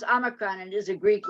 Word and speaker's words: Omicron: Omicron is it's pronounced Omicron, and is a Greek letter, and I only know that because it was on the news.